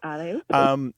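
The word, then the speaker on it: allez-oop: Allez, oop. And it's not the English word up, but it sounds like it.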